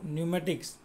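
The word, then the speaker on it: pneumatics: ये जो न्यूमेटिक्स spelling में आपको पी दिखेगा, ठीक है, पी का जो प्रोनाउंसिएशन होगा वो थोड़ा हिडन होगा। तो क्या बोलेंगे उसको? न्यूमेटिक्स एंड it's meaning.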